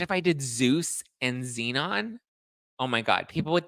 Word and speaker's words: Xenon: Galaxy Zeus and Zeno well Xenon is spelled with the Z not an X Ze Zazu no I